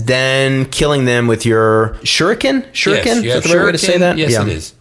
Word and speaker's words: shuriken: And freezing them and then killing them with your shuriken?